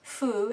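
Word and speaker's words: 夫: Pu or fu, as it is usually pronounced.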